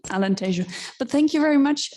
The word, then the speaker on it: Alentejo: our portuguese speaking colleagues i know i mispronounced alentejo because being here in spain i said tejono so sorry for that alan t'ju but thank you very